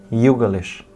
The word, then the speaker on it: Youglish: You xong g xong lish. Youglish.